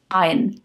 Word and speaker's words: iron: gyroscope not gyroscope gyroscope iron no iron no R iron are silent merchandise not merchandise merchandise